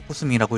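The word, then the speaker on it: 宇宙星人: 서이라 읽고 팔로 워싱은 우주 성인이라 쓰고 코스민이라고 읽습니다 방종 멘트는 메테오 산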